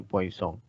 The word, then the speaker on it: Poisson: dengan persamaan Poison ya tulisannya Poison bacanya Poison seorang Perancis Nah kita ketahui dulu bahwa